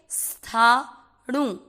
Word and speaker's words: स्थाणु: आधे स का उच्चारण इस तरह से करना है, स, ये होता है आधा स, था। आप स्तुति बोलते हो, गलत है। ये आधा स ऐसे बोल के स्थाणु, णु के साथ आधार स्थाणुर।